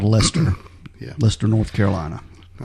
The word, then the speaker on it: Leicester: But they were going northwest to a town called Lester. Yeah. Lester, North Carolina. I also learned during this research that it is Lester, not Leicester, which is what I've heard it pronounced several different ways.